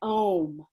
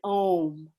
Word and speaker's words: Om: comes out that's why i wanted to make the clarity between aung and om can you see how different those words are ong and om and if i